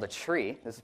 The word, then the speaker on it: trie: there's a version of a dag called a tree this is pronounced tree right retrieve um which we can use to